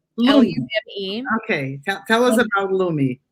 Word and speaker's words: Lume: Yeah, so it's actually pronounced Lume. Lume.